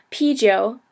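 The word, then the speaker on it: 啤酒: hongo and BYO so p is beer you say p like like eating a p p Joe um and then we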